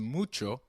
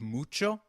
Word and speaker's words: mucho: notice the pronunciation of mucho we earlier learned that that H is always silent in Spanish however when combined with C it is pronounced as CH as in church so can you try